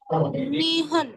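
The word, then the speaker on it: 二分: Nihun. Yes. When it comes to 2, we never change the pronunciation, right? Nihun.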